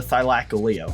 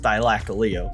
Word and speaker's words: Thylacoleo: Now it was time to tame the Thylacoleo, which, by the way, is pronounced Thylacoleo.